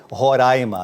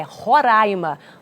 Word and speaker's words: Roraima: O que gera confusão é como se pronuncia o nome do estado. Eu já aprendi há muito tempo que é Roraima, até porque se eu falar diferente, a Ellen briga comigo. É isso mesmo. Fábio, é Roraima, um caldeirão cultural que hoje faz 31 anos.